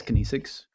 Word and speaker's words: kinesics: Is that how you pronounce it? Yes, kinesics.